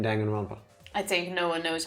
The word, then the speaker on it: Danganronpa: about the script and they said dun gun ronpa oh but i thought it's danganronpa oh it's danganronpa i think at this point we gotta accept that we've been mispronouncing it the entire 300 hours nah they are